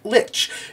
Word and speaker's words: lich: saying a crazy word like dwarfish we'll do that and here dubois uses the pronunciation of like in place of the word lich now if you know